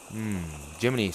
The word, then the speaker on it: Jiminy: And since you know my name already is pronounced Jim. Jiminy. You know we like that cricket in Pinocchio. Jiminy.